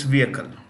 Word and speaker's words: vehicle: vehicle moving you know remember the H in vehicle is silent so it's vehicle so the adanis have